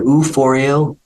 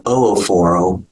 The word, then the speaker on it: oophor/o: to view the pelvis two pronunciations here U forio ororo or ooro either one is can be used or ovario um both